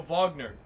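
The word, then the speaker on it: Wagner: a substitute teacher that always said oh yo Vagner and I I like that because no one I was like it was the only time were like the German like anyone noted the German pronunciation this looks fun hell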